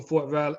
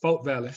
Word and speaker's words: Fort Valley: i grew up in fort valley i'm sorry folk valley that's the proper pronunciation oh thank you foreign